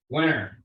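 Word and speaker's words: Wenner: How do you spell it? I don't know how to say it. W-E-N-N-E-R. Winner.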